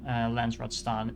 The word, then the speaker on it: Landsraad: You can also sacrifice some Landsraad standing. That's how you pronounce that.